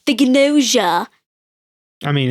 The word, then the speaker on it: Gnosia: JJK and, the English Gnosia. And it's not pronounced Gnosia. We spent this whole time watching Japanese being like, yeah, it's Gnosia. Well, and because it's a GN and that's a N.